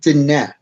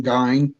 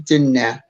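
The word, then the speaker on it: Diné: speak the Navajo speak dinette is what it is called and did not or it's spelled it looks like it's in dying people will say dying but it is dinette and it is the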